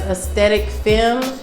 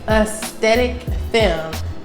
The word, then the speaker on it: Aesthetic Femme: That's Aesthetic Femme, and that's Aesthetic Femme, the same name as my YouTube channel. Aesthetic Femme, if you guys did not know or didn't know how to pronounce it, child.